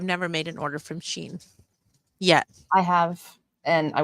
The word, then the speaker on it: Shein: Is it Sheen or Shine? Mhm. Or Shein? I hear everyone say Sheen. So Okay. That's what I thought, but I've never made an order from Sheen yet.